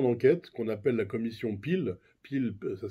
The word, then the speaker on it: Peel: organiser une commission denquête qu'on appelle la commission pil pil ça s'écrit p2 ol c'est une commission d' enquête